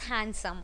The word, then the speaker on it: handsome: personality, that person looks handsome only. ठीक है? So that is handsome. यहाँ पे D remains silent. So the actual and the correct pronunciation would be handsome.